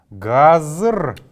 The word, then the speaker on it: газр: Газр. Газр. Газр. Как мы помним, буква Г в первой позиции произносится как Г.